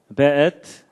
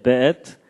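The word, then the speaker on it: ואת: 그 다음에 앳, 하샤마임, 베엣. 요게 이제 W인데도 여기에 독일식 발음을 해서 베 이렇게 읽는다고 합니다. 예, 베엣, 하아렛.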